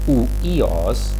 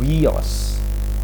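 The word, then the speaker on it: υἱός: Sehingga nanti ketika kita bertemu dengan kata wios yang artinya adalah putra, bacanya bukan uios tetapi wios. Nah, seperti kata wibawa.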